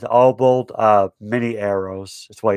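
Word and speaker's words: Obould: of the orcs uh obald uh again i can't pronounce uh these characters names oh bold it's o b o u l d his name is obald uh many arrows that's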